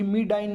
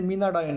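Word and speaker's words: Menadione: Okay, so here सीचे ही मिडाईन नाही तर ते मिनाडायोन आहे, स्पेलिंग त्याची MA, मेनाडायोन.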